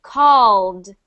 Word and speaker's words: called: Called versus called. One syllable.